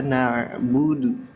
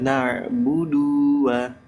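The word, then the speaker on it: نَعْبُدُ: nah silakan iyaka na'budu ingat na Jangan nak oke terus berikutnya wa iyaka Nah kita geser lagi wa iyaka sama Wa iyaka ini sama dengan iyaka yang pertama cuman bedanya ada Wa depannya Nah di sini terjadi lahanjar di mana ketika setelah nabudu itu ya Dunya dipanjangin ya sebelum ngucapin wayaka maka nabudu Dunya dipanjangin jadinya begini iyaka nabudua nah budua budua nah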